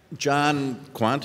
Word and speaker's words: Kwant: Kwant, is that how you say it?